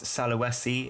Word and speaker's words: Sulawesi: I believe it's Sulawesi, if I pronounce that correctly, where Peleng Island is, where